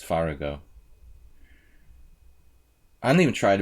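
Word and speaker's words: Farago: Murrell Merle against Merle what would yvonne farrago do i should pronounce it correctly it's far ago I don't even try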